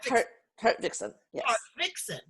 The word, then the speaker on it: Hartvickson: is haverickson haverickson am i saying that correctly kurt nixon yes where is that from